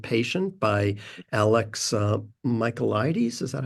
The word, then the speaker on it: Michaelides: The Silent Patient by Alex Michaelides.